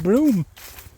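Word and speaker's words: Brougham: was pronounced BR but apparently it's pronounced broom so work that one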